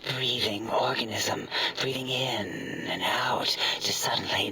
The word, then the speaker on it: O: IT'S O, AS IN O, LOOK WHAT I STEPPED IN.